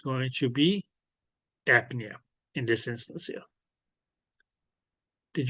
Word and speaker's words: apnea: And please, please, please, the way that this is pronounced is apnea.